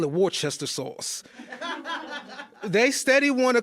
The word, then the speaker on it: Worcester: they got a sauce, and I call it Worcester sauce. They steady want to call it Worcester.